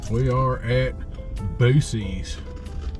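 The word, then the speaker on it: Buc-ee's: We are at Boosie's. Bucky's. We call it Boosie's. They wanted me to pronounce it with a K. They'd have put a K in it.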